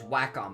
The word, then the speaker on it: Wacom: And I believe the correct pronunciation is Wacom because that's what everyone says.